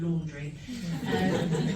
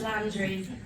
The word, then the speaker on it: Landry: Everyone calls me Laundry. It's Landry.